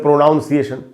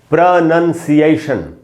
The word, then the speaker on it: pronunciation: इसको हम बोलते हैं प्रोनाउंसिएशन। प्रोनाउंसिएशन तो होगा नहीं, प्रोनंसिएशन, इस तरीके से इसको बोलना चाहिए।